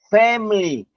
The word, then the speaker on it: family: Entonces, aquí se dice family. Family family. ¿Cómo es? Family. Lo dicen rápido. Family family. Excelente. No se pronuncia, no se pronuncia esta i, aunque se escribe, no se dice family, sino family.